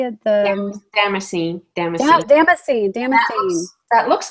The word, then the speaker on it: damascene: Damascene.